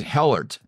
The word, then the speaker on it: Helart: Now, I'm going to say Helart. Did you I get it right? Right on. Well, it's there spelled it out phonetically here.